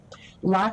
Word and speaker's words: Lachi: pronouncing your name correctly did I get it right Lai like Versace you got it I